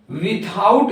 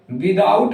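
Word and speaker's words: without: इसके अलावा इसको हम विथआउट भी पढ़ते हैं और विदाउट भी पढ़ते हैं, दोनों जगहों पर ये एकदम सही है।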